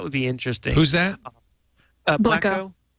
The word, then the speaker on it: Blekko: I can't remember if blekko has a slash tag.